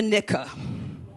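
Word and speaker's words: Nikah: For those of you who do not know, the Islamic wedding ritual is called the nika. I will spell it for you.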